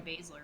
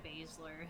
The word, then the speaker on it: Baszler: Our next nominee is Shayna Baszler. Is that how you say it? You say her last name Baszler, right? Okay, correct. SZ, the same spot, you never know. So our next nominee is Shayna Baszler, who really took a